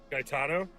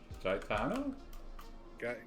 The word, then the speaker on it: Gaetano: Gaetano? Daitano? Yeah, so it's G. Wait, how did he spell it? Geatano, I think. Geato. Gaetano? It's like guy, but like GEA.